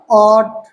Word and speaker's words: ought: जब कभी जी एच एक साथ लिखा हो तो ये इसका उच्चारण नहीं लेते अर्थात ये साइलेंट हो जाता है तो जी एच क्या हो गया साइलेंट हो गया अब बचा का ऑट बचा ऐसे देख लीजिएगा